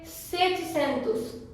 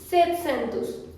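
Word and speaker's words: setecentos: तो इसको हम बोलेंगे सेटसेंतुस, सेटसेंतुस, दोनों बोल सकते हैं।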